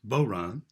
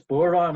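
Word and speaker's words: bodhrán: with the man who taught me how to pronounce boron he can explain that stevie matier howdy stevie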